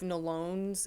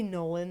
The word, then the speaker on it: Nolon: I don't think we've seen the end of Nolone's involvement Yep. in the story. Watch it be Nolan this whole time. His name. Yep. I say Nolone because it's spelled like this restaurant in town called Talone.